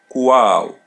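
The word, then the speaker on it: qual: Wow. Wow. As you see her L in the end is pronounced as W.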